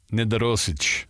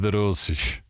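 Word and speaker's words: Nedoroscik: Steven Nedorosic. Nice. Ooh, you nailed it. Nedorosic.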